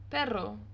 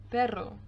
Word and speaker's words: perro: o we also have the word perro which means dog p e double r or perro now perro sounds very similar to the word but in spanish which brings me on